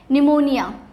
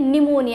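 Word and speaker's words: pneumonia: कैसे नोस करते हैं निमोनिया यानी की एन से शुरुआत हो रही है और हमें लगेगा भी शायद की एन से स्पेलिंग हो शक्ति है बट उसमें पीस साइलेंट होता है ठीक है तो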